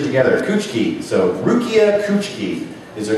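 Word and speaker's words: Kuchiki: name oh Rukia coochi it looks like coochi but we run it together switch it together coochi so Rukia coochi is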